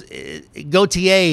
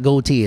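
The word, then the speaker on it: Gotye: goate goate oh that's the uh oh it's goateier is how you pronounce that cuz I remember now it's not goatee it's goateeier he is an Australian singer songwriter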